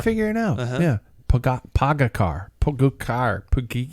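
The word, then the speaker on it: Pogačar: Pogacar. Pogacar is how we first started.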